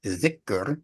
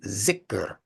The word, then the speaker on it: dhikr: We say dhikr, and if I had to spell it, I'd spell it D-H-I-K-R, or maybe even T-H, dhikr, you know, T-H-I-K-R. But the Pakistani tongue will say zikr, right?